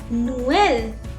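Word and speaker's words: Noël: the example for example noel nuelle noel means christmas means sweet corn so you can see here two vowels are coming together and i'm pronouncing the sound of both the vowels differently that's why i have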